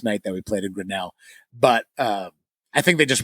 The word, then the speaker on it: Grinnell: Probably, and it's pronounced Grinnell.